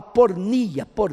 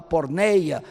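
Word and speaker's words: πορνεία: Eu acho que não é a melhor palavra, porque a palavra grega é a palavra pornia, alguns pronunciam a palavra porneia, mas o grego moderno devia pronunciar a palavra pornia.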